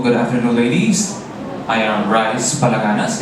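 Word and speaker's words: Rhys: I am Rice Palaganas. It is spelled as R-H-Y-S. No vowels, interesting. Not R-I-C-E, but call me, huh?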